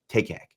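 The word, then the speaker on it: Takac: pronounce that again but then I remember it rhymes with Taylor Swift takak Paul takak is most certainly not in favor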